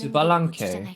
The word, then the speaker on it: Citlali: 난 교활한 스발랑케에게 힘을 도둑맞았을 뿐 나와는 아무 상관없는 Citlali, that's how you pronounce it, at least in Korean.